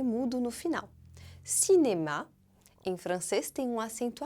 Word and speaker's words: cinéma: Cinema, em francês, é cinéma. Como será que se escreve?